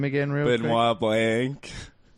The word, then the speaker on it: Benoit Blanc: Benoit Blanc.